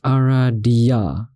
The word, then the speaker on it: Aradia: It's pronounced Aradia. Aradia.